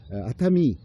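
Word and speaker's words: 熱海: 그 온천 지역 중에 도쿄 지역에서 한 한시간 반면 있는 아타미 열해라고 써 놓고선 아타미라고 읽어요.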